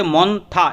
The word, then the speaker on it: Montha: যে cyclonic Sturm মন্থা যেটা উচ্চারণ করা হবে মন্থা এমও এন টি এইচ এ মন্থা এটা দক্ষিণ পশ্চিম বঙ্গোপসাগর